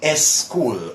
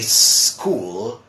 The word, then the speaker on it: school: what they do is they try to add a vowel sound before it so they say s school or a skateboard or s start okay now mind you my dear friends in English we say school skateboard and start so I know one